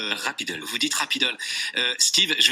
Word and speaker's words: Rapidle: Alors c'est Rapidol. Hein, Rapidol, tout à fait. Voilà. Exactement. Ça s'écrit Rapidle, mais vous dites... Rapidol.